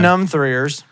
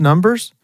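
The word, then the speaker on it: Numb3rs: He was in Numb Threers. He was in that show. What? Have you ever never watched Numb Threers? Numb Threers? Yeah. I think it's pronounced Numbers, But it's spelled like numb threeers.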